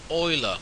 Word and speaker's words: Euler: Oilers doent function tutorial this is pronounced oila oiless tent function before